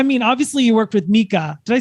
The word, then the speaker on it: Micah: So, I mean, obviously you worked with Micah.